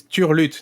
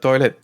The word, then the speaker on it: turlute: Yeah, but it's turlute, not toilet. Turlute. Well, it sounds close. It sounds close, but it's not exactly not at all the same.